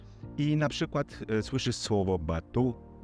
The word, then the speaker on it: bateau: przykład słyszysz słowo batu i ten dźwięk u przypiszesz do dźwięku o albo u, bo to jest taki dźwięk pomiędzy, to jest takie o zamknięte w języku francuskim, które brzmi trochę jak taka mieszanka o i u.